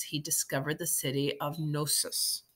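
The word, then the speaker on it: Knossos: discovered the city of gnosis I think the K is silent okay one of the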